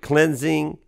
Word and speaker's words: Klinzing: to visit with cleansing okay is that how you say your last name that is exactly how you say you got it right just like it looks although it's been butchered